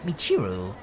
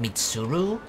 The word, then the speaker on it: Michiru: It's Michiru, not Mitsuru. It's a girly name, but there's not a lot I can do about it.